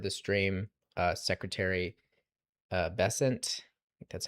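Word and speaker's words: Bessent: So, still if you missed the early part of the stream, uh, Secretary uh, Bessant, that's how you say his name. I probably mispronounced it multiple times on the stream.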